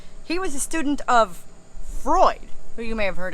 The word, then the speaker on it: Freud: was a student of Freud who you may have heard of whose name is spelled with an EU in the middle but it's pronounced like oi because that's German Fanatics and he said